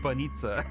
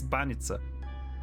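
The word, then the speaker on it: Баница: that was not pronounced correctly cuz she said bonita. It's bananita.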